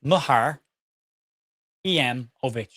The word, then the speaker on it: Muharemovic: Oh, hang on, I've got Muharemovic. Right. Okay. Thank you, Paul. Paul, thank him because I keep calling him Muharemovic. Muharemovic. Muharmovic. Muharemovic. There you go. M-U-H, Muhar, E-M, Ovic. Muharemovic.